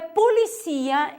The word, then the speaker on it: policía: Porém, em espanhol é policia, em português é polícia, a sílaba tônica é diferente.